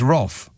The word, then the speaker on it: rough: And R-O-U-G-H is roff.